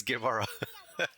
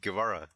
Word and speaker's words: Guevara: Did I say that name correctly, Jharry? Yes, Guevara. Yes, you said it right, Guevara.